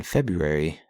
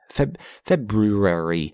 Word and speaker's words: February: Feb fe February. February, however you want to pronounce it. There's a weird R in there. I know that the R is placed weird. It shouldn't be there, but whatever.